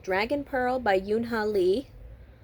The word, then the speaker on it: Yoon Ha Lee: called dragon pearl by yoon ha lee will yoon hai because in korean you don't pronounce the l really um this is uh